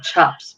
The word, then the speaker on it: Chopt: It's like Chops, but it's CHOPT.